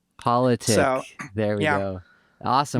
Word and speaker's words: Poletiek: So it's much more boring than it looks how it's spelled. It's just politic. Poletiek.